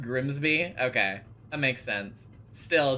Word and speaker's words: Grimesby: Grimesby. That's such a slimy sounding name. I'm Grimesby. Sounds like you you're you're a like gremlin. Oh, it's pronounced Grimsby.